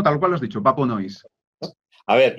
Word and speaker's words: PäPöNoize: A ver cómo se pronuncia exactamente. Sí, no, tal cual lo has dicho, Papo Noise.